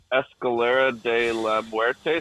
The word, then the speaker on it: Escalera de la Muerte: Escalera de la Muerte.